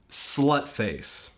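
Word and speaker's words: Sløtface: And remember, it is pronounced Slutface. I'm not sure that's how the crossed out O actually works, but that's what they want to call themselves, so, you know, show the proper respect.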